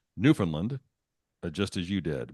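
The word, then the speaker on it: Newfoundland: 20th century would pronounced Newland just as you did with the emphasis on the first syllable and the second and third syllables are said almost as a Mumble it's like a crime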